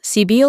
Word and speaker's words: Cybele: It is to be observed that in proper names the final E and Es are to be sounded. Thus, Cybele and Penates are words of 3 syllables, but Proserpine and Thebes are exceptions, and to be pronounced as English words.